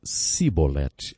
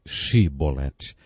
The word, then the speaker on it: chibolete: regiões do nosso país eles não conseguiam pronunciar o som o CH e por isso diziam simbolete ao invés de chibolete Jefté degolou 42 mil